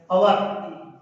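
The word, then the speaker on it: hour: अब इसमें देखने लायक बात है कि first letter H, first letter व्यंजन है लेकिन इसका उच्चारण होता है अवर, तो अवर में पहला अक्षर ए स्वर है, इसलिए आएगा एन।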